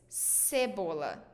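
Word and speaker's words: cebola: sound of okay so we say Cibola sable it's not cable it's Cibola it's onion okay so try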